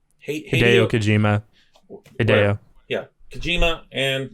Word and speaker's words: Hideo: Is that how you pronounce his name? Hideo Kojima.